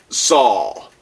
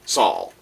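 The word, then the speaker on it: Xhal: She is Saul. That's how I pronounce the name. Saul.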